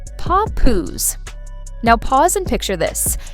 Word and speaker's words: Papoose: And the name behind the chaos, three syllables, paw poos.